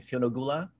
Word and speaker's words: Fionnuala: Oh, and then Fionn, how do you pronounce her name? Fionnuala.